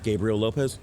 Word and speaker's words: Gabriel Lopez: to first ask you because your name keep pronounce it for me it's Gabriel Lopez oh oh the Instagram name yeah oh my